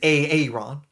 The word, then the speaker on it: Aaron: Now, as noted in the comments, the correct original pronunciation is Aaron.